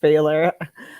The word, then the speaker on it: Pfahler: for having me and my last name and I should have told you before we got on here it's pronounced failure Baylor yeah yeah I